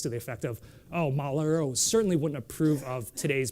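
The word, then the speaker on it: 毛腊肉: You pronounce it Mao La Rou.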